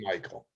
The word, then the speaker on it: Mikhail: I always, he spells it Mikhail, but I think he pronounced it Michael.